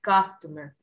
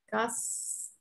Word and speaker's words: customer: Very good, customer. I am a taxi driver. Excellent. Very good, the pronunciation of this word. Customer. No es customer. Bueno, es la U, lo más parecido.